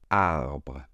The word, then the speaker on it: arbre: On le prononce ainsi. Arbre. Arbre. Ici, la difficulté va être encore une fois la lettre R et le E final qui, je vous le rappelle, est muet.